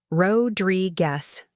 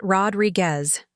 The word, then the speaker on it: Rodriguez: Rodrig guess, not Rodriguez, I'd say gently.